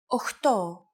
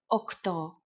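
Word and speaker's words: οκτώ: Sometimes, though, especially in casual conversation, Greeks also use efta instead of epta, ochto instead of okto, and ennia instead of enea.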